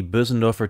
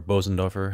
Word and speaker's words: Bösendorfer: I've loaded the Bösendorfer 290, or Bosendorfer, however you like to pronounce it.